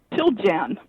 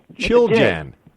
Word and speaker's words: Chiljan: Did I say it right, Catherine? Chiljan. Chiljan. Chiljan. Yeah. All right. Chiljan. Chiljan, right. Chilly in January. All right. So chilly in January.